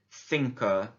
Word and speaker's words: cinco: Number 5 in Spanish, and this is back to the th pronunciation, cinco.